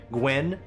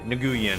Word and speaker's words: Nguyen: for my race, but like the last name Gwen, the way it is spelt, the sheer number of people I've met in my life that legitimately pronounce it Nguyen, I'm just like, I